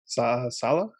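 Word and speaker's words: Saleh: better than last year so they've hired robert salah salah how do you say that jeffery robert sala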